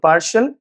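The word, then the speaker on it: partial: पार्टियल नहीं पार्शियल evolution.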